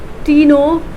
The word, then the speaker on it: Ctenophora: So where C is silent when we pronounce the word or the term, or let's say the name. So it's phylum Ctenophora.